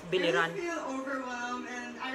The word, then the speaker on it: Biliran: our first finalist from Biliran. Hello, Skelly, how are you? It... Hello, Casey, I feel great today. Do you feel great? You pronounce it incorrectly. That's Biliran, that's Biliran.